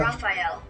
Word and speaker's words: Raphael: Raphael. It's correct, yeah? You need three syllables.